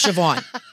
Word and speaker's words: Siobhan: the B silent it's like San but it's sioban it's the Irish it makes no sense so the bee is silent yes so the is